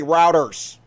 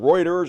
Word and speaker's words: Reuters: So anyway, pretty much proof, and don't make fun of how I say routers. That's how I want to pronounce it. Just accept me for who I am. Reuters, or how the fuck you want to pronounce it.